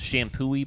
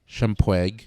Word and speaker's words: Champoeg: My wife was like, that's not how that's pronounced. Shampooey Park.